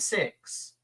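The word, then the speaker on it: Sicks: the ring, the Wyatt Six. Or do we call them Six? It's 6. Yeah. It's sick, but it's pronounced It's like pronounced six.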